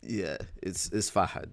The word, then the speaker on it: Fahad: His name is Fahad. It's Fahad. That's how it's pronounced.